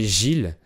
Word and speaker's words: Gilles: Notre hôte s'appelait Gilles. C'est un prénom masculin qui s'écrit G-I-L-L-E-S. Mais en fait, la deuxième moitié du mot se prononce pas.